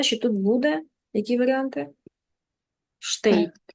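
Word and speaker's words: steht: тут буде які варіанти штейт штейт х там оцей не читається на його місці читається звук й штейт штейт нуже в землі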